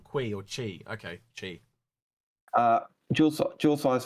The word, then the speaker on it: Qi: They're telling me in chat it's pronounced chi, not qui.